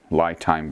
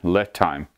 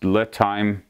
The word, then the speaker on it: LiTime: And I have them in balance right now because I was playing with the LiTime battery, or sorry, LiTime. It's pronounced LiTime, L-I as in little.